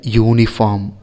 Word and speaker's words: uniform: Example, a hat, a house, a union, a uniform. Here union and uniform have started with vowel sounds, but the pronunciation u, yu is the real pronunciation of union and uniform.